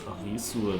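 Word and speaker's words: アリス: Alice is Arisu, because if you pronounce like this Arisu like Japanese, instead of Ri you have then a bit of Li, and the Su is usually just S. So I thought that Arisu basically is Alice, kind of.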